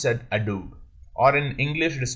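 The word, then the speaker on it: j'adoube: apostrophe a d o u b e it pronounced that a dude or in english it is called as i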